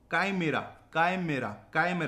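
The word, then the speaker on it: chimera: Fourth है हमारा काइमेरा। कैसा प्रोनाउंसिएशन निकल रहा है?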